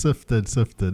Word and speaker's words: Syphifted: No, it's sifted.